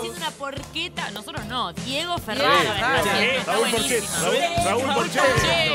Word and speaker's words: porchetta: una porqueta. Nosotros no, Diego Ferraro. Sí, está Raúl Porchetto. No se dice porcheta, no. Porqueta.